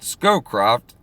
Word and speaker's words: Scowcroft: control and also implicitly war and famine brent scowcroft that's how you say his name who would